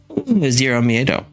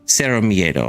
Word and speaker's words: Cero Miedo: Zero Miedo. Let's see, Cero Miedo, actually. He'd be mad at me pronouncing it wrong.